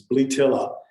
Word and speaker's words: Bletilla: And I looked up the correct pronunciation, which is bletilla, and it doesn't roll off my tongue.